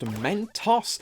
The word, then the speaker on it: Mentos: And don't pry at me to check the instructions manual, I did, but the most I learned is that Mentos is actually pronounced Mentos, according to its website, and while the American